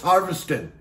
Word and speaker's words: Harviestoun: that it'd be you you wouldn't have ever been asked to be able to pronounce it but it's harvesting it's prudent scotland all